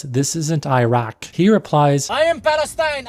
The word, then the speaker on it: Iraq: sound made at the back of the throat, not a hard K or Q. Iraq, Iraq. I don't know how a Q ended up there in the English spelling because it doesn't align with the sound it makes in Arabic.